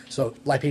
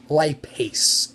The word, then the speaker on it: lipase: Jodi your question is lipase so enzyme a s e is how you spell that so it's Li P ASE lipase and so lipid ace lipid